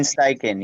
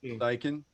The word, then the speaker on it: Steichen: I don't even want to try and pronounce his name, Paul. It sounded like you had it right. Steichen? Shane Steichen, yeah. Steichen.